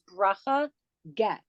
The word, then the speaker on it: Bracha Getz: Her name is, it's a little hard to pronounce because it's a Hebrew name, but it's Bracha Getz.